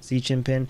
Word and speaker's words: Xi Jinping: Right, Xi Jinping.